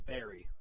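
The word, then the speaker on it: buries: How do you say it? Berries? It's berry. It's berry. Like if you're... It's spelled B-U-R-I-E-S. Correct.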